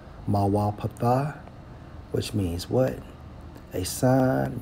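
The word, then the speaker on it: מוֹפֵת: It's Strong's H4159 pronounced as Mawa Patha. Mawa Patha, which means what?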